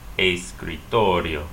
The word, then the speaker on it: escritorio: It ends with a vowel though, so you know you need to stress the next to the last syllable. Escritorio, escritorio.